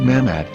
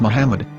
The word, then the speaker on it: Muhammad: Ben yehuda's Hebrew English dictionary it is correctly pronounced as Muhammad not mahmet so how we're going to know for sure if it's pronounced as Muhammad the Muslim Prophet or as mahmad a random